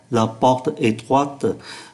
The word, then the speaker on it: La porte étroite: là một tính từ, và một danh từ với một tính từ đi sau thì không được phép nối, chúng ta phải phát âm là La porte étroite.